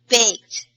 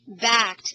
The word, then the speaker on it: baked: out fact okie dokie baked baked B baked mm if you say backed it's another word it means something different so baked people I